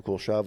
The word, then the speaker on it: Kuleshov: Like, Is that called the Kuleshov effect? Is that what it is? Yeah. Is that how you say it? Yeah. The Kuleshov effect.